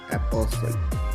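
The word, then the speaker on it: apostle: दे सकते हैं कि यहां पर टी की साउंड जो है ट मी इसकी साउंड जो है बिल्कुल silent एपोसल कैसल सी ए एस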